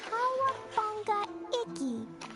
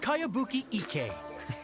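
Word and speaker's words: Kayabuki Ikkei: By Kawabunga Iki. Yoniha, this is a really strange name. Who's this Kawabunga? It's pronounced Kayabuki Ike.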